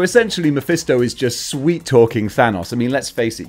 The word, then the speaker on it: Thanos: And Thanos, he goes full Roman Reigns. I mispronounced his name there, didn't I? Thanos.